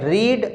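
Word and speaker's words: read: रीड रेड रेड, यहाँ पर have आया है, इसका मतलब थर्ड फॉर्म आई है तो हम इसको रेड पढ़ेंगे, रीड नहीं पढ़ेंगे।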